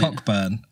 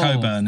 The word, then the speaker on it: Cockburn: Or Johnny Cockburn. Yeah, Coburn, isn't there we it?